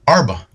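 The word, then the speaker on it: ארבה: in the pronunciation but in Hebrew locusts are grasshoppers is the word arba that's how it's pronounced in the Hebrew language the word for Arab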